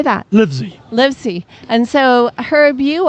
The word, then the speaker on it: Livesey: Livesey.